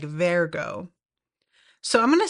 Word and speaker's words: Vergo: uh I think that the way he that it's pronounced in the show is like Vergo so I'm going to